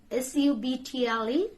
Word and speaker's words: subtle: like which The Silent Age which can you pronounce this word s-u-b-t-l-e subtle don't say be subtle subtle so B